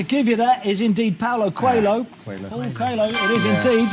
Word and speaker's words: Paulo Coelho: We're not sure about the pronunciation. I'm going to have to give you that. Is indeed Paulo Coelho.